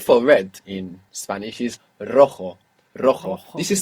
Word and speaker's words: rojo: The word for red in Spanish is rojo. Rojo. This is spelled R O J O. And J's in Spanish are pronounced like this.